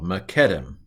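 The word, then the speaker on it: מִקֶּדֶם: Segal Segal and Sega let's put the accent on the first syllable machetim so and he went out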